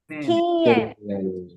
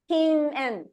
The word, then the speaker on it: kinen: spelled the same, but the pronunciation is a little different here. It's kinen. Kinen. That n sound is very soft. Kinen.